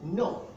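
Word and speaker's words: know: So no, the K is silent in no.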